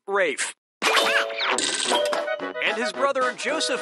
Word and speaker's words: Ralph: two yep ray Fiennes first name is spelled like Ralph but pronounced Rafe and his brother of